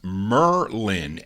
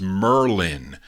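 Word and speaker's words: Mer-Lyn: gal her name is merlin i guess like the i don't know like the magician but it's spelled m-e-r-dash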